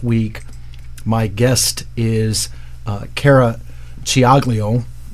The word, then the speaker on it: Ciaglio: Being Italian, I can say it the right way. And she, Ed's back there laughing. Well, it's true. You know, you have to know how to say the C's and the CH's and the CC's. And they don't match up as we say it in English.